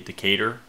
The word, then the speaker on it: Decatur: I always pronounce this Decatur. You have to understand that comes from the fact that this... the American pronunciation would be Decatur. You gotta almost say it with a southern drawl.